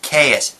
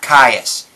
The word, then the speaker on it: Caius: It's Caius, not Caius. Say it the damn card correctly.